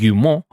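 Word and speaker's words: Guillemot: recent earning call CEO Eve you more which is how you have to pronounce it just like like that football club from France what's that one called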